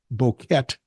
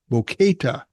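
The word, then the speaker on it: Boquete: well-known expat area named boket Bo boka is the way he did the uh pronunciation it's an idilic part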